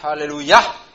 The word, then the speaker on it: aleluya: de luya n breves aleluya con el acento en la final aleluya alabar a dios en